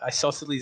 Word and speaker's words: Isosceles: Isosceles is like the triangle.